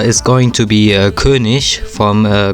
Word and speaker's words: König: and the character is going to be a Kish from uh Call of Duty I am German I'm not Austrian he's Austrian but I'm German and I'm going to tell you he's pronounced Kish not kic I'm sorry I always get uh uh Angry